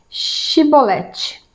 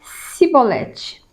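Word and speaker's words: Chibolete: E dizendo ele: não, Então lhe diziam: dize, pois, Shibolete. Porém, ele dizia Sibolete, porque o não podia pronunciar assim bem.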